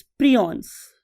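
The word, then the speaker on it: prions: उसका नाम होता है स्टूडेंट्स प्रियॉन्स. बालोग इसे प्रायॉन्स भी बोलते हैं, what ever you want to pronounce.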